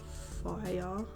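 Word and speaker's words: Fayr: It kind of like, it's spelled F-A-Y-R, and I feel like it's meant to be pronounced like fire.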